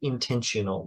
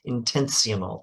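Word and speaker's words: intensional: are extensional definitions and intentional definitions now I I didn't pronounce that properly I should say intense CML try not to confuse this with intentional with an extra t how do I have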